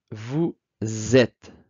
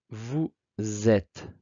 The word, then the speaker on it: vous êtes: Vous êtes. Notez la liaison importante ici. Z. Vous êtes.